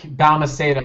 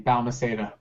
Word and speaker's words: Balmaceda: Balmaceda is my last name. Balmaceda.